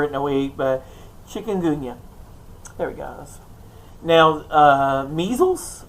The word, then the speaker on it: Chikungunya: Chikungunya. I say it right. I practiced it this morning. Chikungunya.